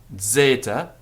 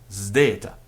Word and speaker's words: Zeta: And then we have Zeta, also a Greek letter, and there's some dispute about whether it's Zeta or Zdeta. So whether you say Mazda, or whether you say Mazda.